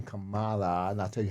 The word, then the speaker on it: Kamala: show how much um it's not Kamala it's Kamala it's not Camila it's Kama it's Kama Kamala and I'll tell you